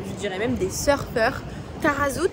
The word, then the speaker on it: Taghazout: Tarazout, si ça se prononce, normalement ça se prononce comme ça.